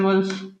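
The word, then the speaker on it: whorls: देखो, इसके प्रोनाउंसिएशन जो है ना वो अलग अलग है, पर मैं मतलब मेरे जो टीचर थे, है ना, मल्लिकार्जुन सर, वो इसको बोलते थे वर्ल्स। कुछ लोग इसको ओरल्स बोलते हैं, या फिर आई डोंट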